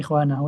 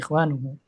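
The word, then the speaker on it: إخوانُه: yuhibbuhu ikhwu ikhwanuhu ikw Bukan ikhwanahu tapi ikhwanuhu artinya orang yang beradab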